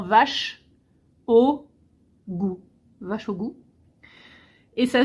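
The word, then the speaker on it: vær så god: je t'en prie donc là c'est vach au goû donc qui s'écrit Var plus loin sa plus loin goû c'est vach au goû donc en phonétique c'est vraiment vache au goût vache au goût et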